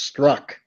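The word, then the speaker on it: Strzok: is a lot of consonants but it's apparently pronounced struck yes this tells you all you need to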